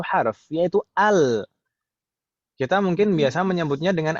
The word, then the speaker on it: ال: Itu hamzah wasalnya selalu dibaca fathah, nggak mungkin nggak fathah, nggak ada yang membacanya il atau ul, ya kan Om? Pasti al.